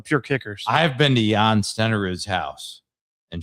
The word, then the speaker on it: Jan Stenerud: I've been to Jan Stenerud's house, and shame on you for pronouncing his name John Stenerud, man.